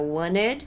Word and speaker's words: wanted: O passado de want é wanted. Você pode também pronunciar wanted, porque esse T aqui pode simplesmente não ser pronunciado por causa daquele negócio do internet.